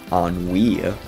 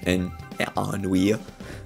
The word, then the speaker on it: Ennui: a different character called Ennui. I'm pretty sure that's how you pronounce it, I looked it up.